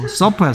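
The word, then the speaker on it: supper: far는 고통받는 거야 그러니까 피 발음하고 F 발음하고 잘 구분해야 되겠죠 난 분명히 저녁식사 뭐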